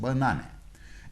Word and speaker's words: banana: stressed and unstressed syllables as in this word banana we have second syllable na stress and the first and third syllables are unstressed banana and when this group